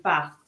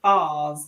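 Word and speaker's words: Faes: first joined he said people have asked me how to pronounce my name and it's woot fast yeah that's why it drives me mad when BBC Radio Lester are like fars and I'm like he's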